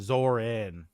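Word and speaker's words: Zohran: Is it Zoran or Zorum? forget. Uh, yeah, here we go. Money. Zoran. Zoran. My bad. My bad. I was spelled without the H.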